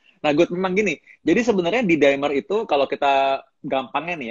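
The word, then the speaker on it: D-dimer: Itulah disebut dengan dedimer atau didimer bacanya sebenarnya.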